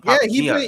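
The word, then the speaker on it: Papagiannis: But it's pronounced Papa Giannis.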